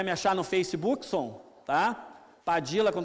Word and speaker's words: Padilha: Mas você pode chamar de Padilha, pode chamar de Padija, como se fala no Uruguai e na Argentina, aqui por influência provavelmente